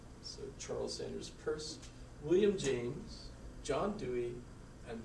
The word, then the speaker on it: Peirce: so Charles Sanders first that is the correct pronunciation of his name is not Pierce so Charles Sanders purse William James John Dewey and George Herbert Mead